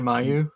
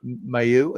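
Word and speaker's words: Mailloux: Logan Mayu. Mayu. Is it just May? Yeah, I was gonna say Caillou, you know, like the just that easy.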